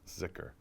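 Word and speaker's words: dhikr: They call it a thicker, or sometimes it's pronounced zikr.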